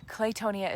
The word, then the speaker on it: claytonia: very unusual green but it's my favorite claytonia claytonia is spelled c a c l a y t